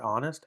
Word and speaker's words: honest: know how the word honest, Honest, we really don't say the word, we don't say the letter H. We really just start with honest, right? It's a silent H letter.